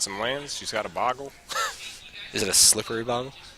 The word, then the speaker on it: Bogle: Is it Bugale? I think it's Boggle. Bugale. I'm gonna go with this guy. I was pronouncing it wrong. It is Boggle. Players do have Boggle.